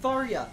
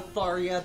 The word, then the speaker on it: Tharja: Yeah, like the Tharia, the Hex Maniac. Yeah. All of the ones that are, like, Yandere Goth GF. Yes, I do pronounce Tharia with a soft J.